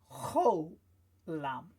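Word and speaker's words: חולם: It's a cholam, so we can hear from the sound it makes. It's an O sound, cholam.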